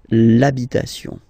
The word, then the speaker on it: l'habitation: for the masculine part, even if you've got this H, then the first sound you hear is A, okay, so for the same reason you will have to take this A away, and then you get